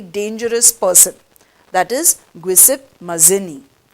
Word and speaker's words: Mazzini: was a very dangerous person that is guisip mazzini g i u s e p p e okay this is pronounced as guisette mazini m a z z i n i mazzini